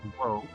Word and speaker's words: を: However, rather than wa, she uses the particle o. On hiragana charts, this is typically shown as wo, but this is the character's only common function, is the particle o.